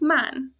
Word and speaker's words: man: So the reason that is an ah sound, man, is because it's one syllable and it's closed. It ends in an N, which is a consonant. Rule number 2, which means it's a short sound, man.